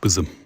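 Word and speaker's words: Qutbism: Uh, it's pronounced quism.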